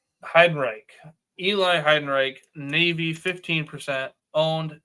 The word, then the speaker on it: Heidenreich: Heidenreich.